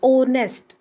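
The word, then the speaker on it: honours: ऊपर क्यों लगाया है यहां पर साइलेंट लेटर है साउंड नहीं ए रही और जो नेक्स्ट शब्द बन रहा है वह ओ से स्टार्ट हो रहा है ऑनर्स कहां से स्टार्ट हो रही है ओ से हा तो बिल्कुल साइलेंट है आज की साउंड उसकी आवाज नहीं ए रही है वो बिचारा तो चुप है इसलिए हमने हा को नहीं देखना हमने शुरू करना है ओ से देखना है और ओ चूंकि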